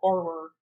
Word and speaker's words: horror: Horror. Damn Midwestern accent. I just Anyway, say HAHR, horror. horror. Horror, Horror. Just horror horror. movies. There's no Yeah, that second sounds. syllable. There's no second syllable, just horror.